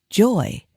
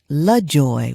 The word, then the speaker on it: LaJoy: I stated it incorrectly I used to think the correct way to say it was Joy however my grandmother would correct me and say your middle name is La Joy with Allah at the beginning so then I began